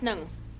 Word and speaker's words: Ng: Negg is next. Mr. Negg? Mr. Negg! How do you spell that? It's spelt N-G. Oh, it's Mr. Nung. It's pronounced Nung.